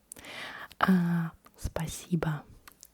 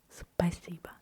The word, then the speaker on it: спасибо: I do not really pronounce the O at the end. Why? Because in Russian you pronounce the O as O only if it's stressed.